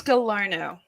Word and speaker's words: Gallarno: your last name oh it's gallarno you know it's french canadian yeah i really didn't